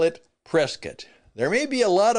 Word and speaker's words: Prescott: to be in and he mispronounced it. He said he was going to be in Prescott, Arizona. Well, I'm glad he's coming. And again, Prescat is a really wonderful